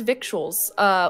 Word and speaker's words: victuals: You don't pronounce the C? No. Oh, Victor's Vittles.